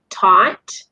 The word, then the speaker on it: taught: So Americans will pronounce it taught and bought. So it's just pretty much like caught just now.